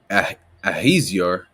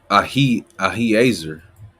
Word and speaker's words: Ahiezer: captain of the children of Dan shall be Ahaziah, right? Let me pronounce that right, Salaki. Right? Ahiezer.